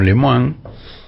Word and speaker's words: Lemoine: llamaba Lilia más lem lemoine lemine yo la llamo leman realmente no hay por qué negarle la pronunciación original de su apellido no bueno Lil lem